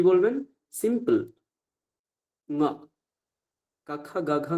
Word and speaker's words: ঙ: এই যে ম, এটা বলবেন না, কি বলবেন? ঙ।